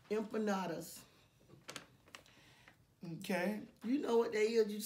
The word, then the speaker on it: empanada: Empanadas. Endonados. Uh-huh. Those. I might can't pronounce that one right. It's empanada. Empanadas.